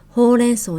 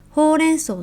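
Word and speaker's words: 報連相: 発音はほうれん草と一緒だよ。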